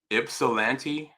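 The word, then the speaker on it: Ypsilanti: I'm hope I'm pron pronouncing this right. Ipsilante, Michigan.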